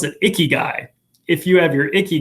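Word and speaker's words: ikigai: this really fancy japanese word which is i pronounce it icky guy if you have your icky guy you are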